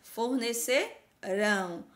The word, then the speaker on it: fornecerão: Então, ó, verificarão, farão, fizeram, forneceram, fornecerão. Ó, fornecerão merenda escolar para o retorno às aulas. Então, olha como tá no futuro, a sílaba mais forte é a última. Então, a palavra oxítona.